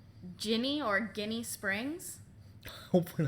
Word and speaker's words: Ginny: The first time that Ginny Weasley was introduced, I hit her with that Guinea Weasley. And she was like, oh, no, it's Ginny.